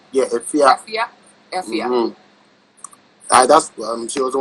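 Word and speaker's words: Efya: Ifia? Yeah, Ifia.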